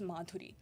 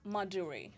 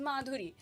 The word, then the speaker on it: Madhuri: used to tell people my name is Madhuri and like the Americans don't know how to pronounce the the Right? They just don't know how to pronounce it. So they will be like Maduri, Maduri, Maduri. And I would be like, "No, it is Maduri."